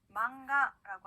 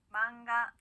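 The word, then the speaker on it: マンガ: 자, 만화라고 하는 일본어 단어, 여러분들 이 단어도 많이 들어보셨을 것 같은데, 망가라고 합니다. 따라할게요. 망가. 네, 좋습니다. 그 다음은요, 니은과 이응의 중간 발음이에요.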